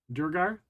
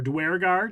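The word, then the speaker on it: duergar: him with the thing durar or dgar depending on your pronunciation I see you have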